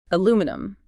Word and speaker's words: aluminum: Aluminum. A-O-O-M-E-num. 4 syllables. Very simple. Unless you are British, then it is L-U-M-I-N-E, 5 syllables.